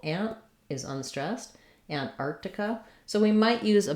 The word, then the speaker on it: Antarctica: That's a place where I think for many years I said Antarctica, where I would leave that T off and leave that C off, but that's not correct. What we want is, we do want the T, Antarctica.